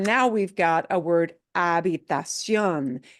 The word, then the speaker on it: habitación: What do we do with that H in Spanish? Silence. Silent, yeah. Unless it's a CH, that combination we do voice as the ch sound, right? Which is exactly like what we do in English. But lache, the H, we don't pronounce at all.